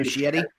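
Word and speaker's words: Muschietti: Um, I mean, Andy Mushetti, how do I pronounce this guy's name? Mushetti. Mushietti.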